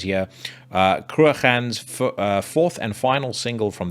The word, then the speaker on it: Cruachan: I believe Cruachan is how you pronounce that name, but again, I speak under correction.